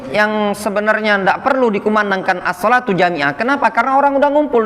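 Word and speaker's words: الصلاة جامعة: mengutus seseorang untuk mengumandangkan assholatu jamiah jadi bacanya assholatu jamiah Boleh dibaca dengan assolatu jamiatun atau boleh asal Ata jamiatan boleh seperti itu Hai jadi assholatu jamiah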